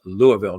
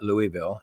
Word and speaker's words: Louisville: Now it is pronounced Louisville, not Louisville. And I know that because I know people from a Louisville, even though it looks like it said it's spelled Lewisville.